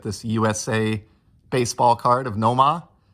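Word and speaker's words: Nomar: usa baseball card of noma nomah as we pronounce it here in new england and then here's the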